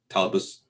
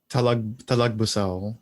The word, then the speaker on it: Talagbusao: end when they got mind controlled by Datu Talabus. I'm gonna mispronounce that. Talagbusao.